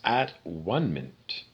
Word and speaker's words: atonement: It's spelled the same, but it's at one-ment.